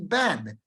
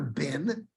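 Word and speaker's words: בן: if I ask you how do you say son of would be Ben it's never been it's always bad with a saigle The Only Exception is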